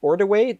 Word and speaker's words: Ordiway: by a very special guest known as bailey ordaway did i pronounce that correctly you did one of the